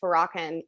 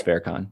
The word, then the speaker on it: Farrakhan: more left-leaning like louis farrakhan i don't i don't think i pronounced that right louis fair con yeah thank you he